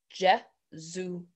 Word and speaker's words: Jesuit: It is pronounced Jesuit.